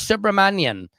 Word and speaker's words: Subramanian: Dear Judge Subramanian, and by the way I know I'm pronouncing that right is because one of my loyal Patriot Indian followers taught me the correct way to say it because I was screwing it up.